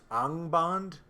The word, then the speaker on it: Angband: right up to engband I've had some folks tell me it should be pronounced unbond but I've heard it both ways so I'm going with angband for this video anyway Baron and luthien